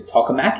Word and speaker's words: tokamak: So the actual machine itself, donut-shaped vacuum chamber, but it's called a tokamak, is that correct? Is that pronounced right? That's right.